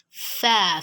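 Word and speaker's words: ف: Fa is a consonant letter. It is pronounced from the lips. That is, the point of articulation of fa is ash-shafatayn. It is characterized by the edge of the front upper teeth meeting the lower lip.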